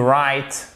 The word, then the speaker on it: write: To write down. Vous savez que le W ne se prononce pas, hein? Ok? Vous l'écrivez, mais vous ne le prononcez pas.